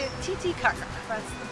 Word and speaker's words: Titicaca: Do not say it Titicaca. That's not how you say it. You say it Titicaca. That's the correct pronunciation.